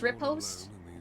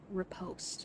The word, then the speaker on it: riposte: our patches for the game hello so it's rip host we've got a we've got a pronunciation well i hope you have a very good reason riposte i'm going to try to remember that who